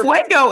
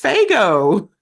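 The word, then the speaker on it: Faygo: It's it's it's never Fuego. It's FGO. Whatever.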